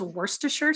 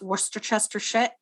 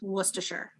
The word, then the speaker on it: Worcestershire: correctly uh it is spelled Gloucester it is pronounced Gloucester also guys it's Worcestershire sauce in case you're wondering no more of this Worcester Chester Worcester sure Worcestershire thank you for coming to my TED Talk